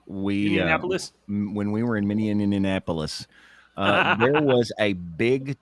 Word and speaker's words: Minneapolis: in the city of minap and they have you say it like I used to and got corrected by that in the elevator miniapolis and I went fix